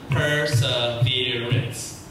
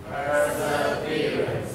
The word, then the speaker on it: perseverance: right into it perseverance it's four syllables perseverance can you say it perseverance perseverance perseverance good and